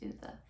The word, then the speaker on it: Ove: I think Bree said it's pronounced Uwe.